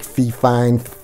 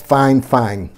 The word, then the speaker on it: fifine: I know when you look at it, it says fifine, so it looks like fifine, but it's fifine. The way the product is pronounced, it is fifine Technologies.